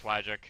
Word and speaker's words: Wagic: It's probably Wagic. It's like magic, but with a W, right? Yeah, oh, that's true. So, Wagic? Yeah, it's Wagic.